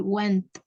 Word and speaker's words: went: I never went there.